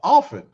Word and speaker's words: often: Look, you the first person that dropped the T sound off often. Most of my people say often.